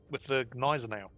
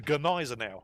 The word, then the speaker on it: Gneisenau: You must pronounce the G. So in my next video, I called it the Gneisenau.